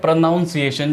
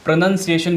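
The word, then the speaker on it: pronunciation: ठीक है, प्रोनाउंसिएशन, लेकिन इसको प्रोनाउंसिएशन ना बोल के प्रोनंसिएशन बोलिए। ठीक है, देखिए ऐसे प्रोनंसिएशन, प्रोनंसिएशन बोलिए इसको, प्रोनंसिएशन, ना कि प्रोनाउन। ये जो नाउन है इसको नन कर दीजिए, NUN कर दीजिए।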